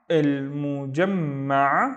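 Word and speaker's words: المجمع: طيب, the first syllable is il, and then mu, and then jam, ma, il mujamma, which means the compound, and then ba, eid.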